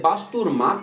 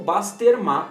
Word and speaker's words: Basterma: therefore their own pronunciation The Armenian version is Basturma in Eastern Armenian or Basterma in Western Armenian Later on, we will